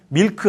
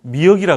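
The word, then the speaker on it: milk: 밀크 하면 절대 못 알아듣습니다. 밀크는 우리말로 미역이라 그러면 알아들어요. 미역 하면 알아듣어요.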